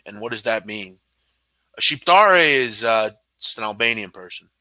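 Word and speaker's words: Shqiptar: happen all right big man how do you pronounce cheap dari and what does that mean sheathe re is an albanian person like Donny would not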